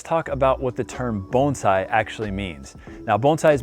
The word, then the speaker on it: bonsai: mispronouncing the word bonsai i'm in fact not mispronouncing it it is bonsai a lot of people think that the term